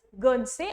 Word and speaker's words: Guernsey: तो English channel में ये आइलैंड है, दैट इज गर्नसे और जर्नसे, ठीक है, विद स्पेलिंग GUERNSEY, ध्यान रखना है।